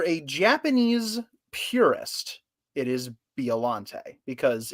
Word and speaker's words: Biollante: So if you're a Japanese purist, it is Biollante because it is pronounced Biorante in Japanese.